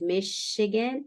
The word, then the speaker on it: Michigan: studied with Chicago because in Spanish we say Michigan and we say Chicago but it's got the soft Michigan and Chicago okay okay so this